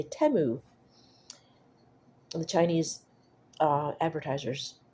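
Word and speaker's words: Temu: Yes, that's how you say a teu. I kept saying timu because I was, you know, American English, I I equate a short e sound or short vowel sound with multiple consonants like two M's.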